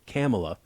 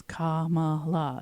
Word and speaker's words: Kamala: fox news i just it's not that hard all the a's have the same sound it's kamala there's no you don't have to do anything um oh sorry wait